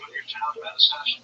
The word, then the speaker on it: Manastash: All right, how do you pronounce the name of your town, Manastash? Manastash.